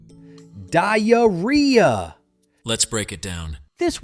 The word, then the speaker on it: diarrhea: It's pronounced diarrhea.